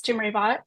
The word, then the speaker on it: Jimreivat: not speak Thai, so I actually pronounce my name like a white person and it's very embarrassing for my grandparents.